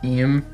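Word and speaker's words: Imu: spelled as emu like I AMU but the pronunciation is just IM okay and they just they just run the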